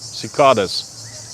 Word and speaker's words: cicadas: The cicades is the how you say it in English. Cicadas like kitties.